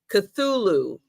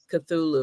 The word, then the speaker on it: Cthulhu: Cthulhu. All right, that's how you say it. Cthulhu.